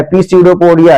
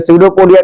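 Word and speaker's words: pseudopodia: in movement होता है पीडो पोडिया इसमें पी साइलेंट होता है इसलिए सीडो पोडिया कहा जाता है सीडो पोडिया का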